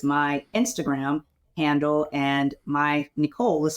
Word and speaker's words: Necole: the same as my Instagram handle and my Nicole is spelled with an E it's NE e c